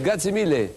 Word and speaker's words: grazie mille: C'est une bonne prononciation, allez-y Odette, grazie mille.